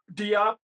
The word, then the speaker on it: Diop: No, what's how do you pronounce her last name? Dope Yup. Doip Diop. Yeah, Nanny with Anna Diop, highly recommended.